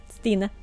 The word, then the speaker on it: Stine: Well, it's not a Norwegian word, it's a Norwegian name. But yeah, Stine. That's how you say it.